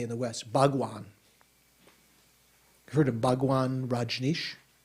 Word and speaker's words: Bhagavan: So sometimes Bhagwan is just translated as Lord or, yeah, something like that. Bhagavan is actually how it is in Sanskrit, 3 syllables, not Bhagwan or Bhagawan, but Bhagavan, is one